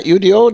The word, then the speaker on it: Udo: I pronounce it correctly? Yeah, UDO, that's correctly.